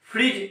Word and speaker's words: फ्रिज: फ्रिज, FRIDGE, यहाँ भी D silent है।